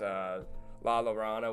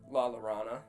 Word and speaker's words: La Llorona: But yeah, I probably butchered La Llorona, the name of it. I thought it was La Llorona. Yes, I think it's La Llorona. Like Corona.